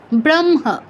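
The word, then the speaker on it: ब्रह्म: হওয়া উচিত ছিল হ আগে আছে, ম পরে আছে, হওয়া উচিত ছিল ব্রহ্ম, কিন্তু হবে ব্রহ্ম, ব্রহ্ম, ম আগে হ পরে।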